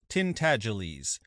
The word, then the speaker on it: Tintangeles: The name is pronounced Tintangeles, but as most people would not take the trouble to pronounce it correctly, they called him Miggs for short.